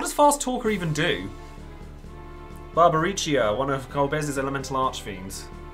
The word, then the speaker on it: Barbariccia: I've betrayed no one, Barbariccia. I've returned to my senses. I pronounced that one right. Correct? Barbariccia.